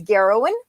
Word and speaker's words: Garrowan: actually explaining that so my name is garrowan that's i know it sounds really bad but it rhymes with heroin not the drug i know you're thinking about the drug but it's not the drug it's the female hero so it's heroin with a g and you remember it's